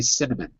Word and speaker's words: cinnamon: write 0 and perfect so even though it's spelled embo n we don't say cinnabon Iman would you like some seen him on no one say like that we say cinnamon cinnamon you said it perfectly